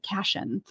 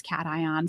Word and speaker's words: cation: I was pronouncing it because it's CATION and it looks like caution without the U. So I was pronouncing it cation, and I had to stand up. Spelled. I know, because it is like that, but it's cation.